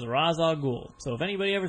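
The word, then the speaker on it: Ra's al Ghul: of the names was razag I said we learned from Scott batty in wizor Philly that he asked you and you told him that the correct pronunciation was Raza goul so if anybody ever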